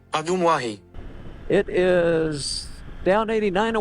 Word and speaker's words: Ajumwahi: And here's how Google says to pronounce the state park's name. Ajumwahi.